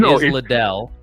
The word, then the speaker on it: Liddell: So Okay, I don't I'm know glad if it's not pronounced, because when I heard that in the video, I was like, oh, I've been saying it wrong this whole time. So it's Liddell.